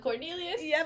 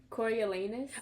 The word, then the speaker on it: Coriolanus: But Cornelius? but Oh, Cornelius. Yes. Yes. Bro, like actually, how do you say his name? Coriolanus.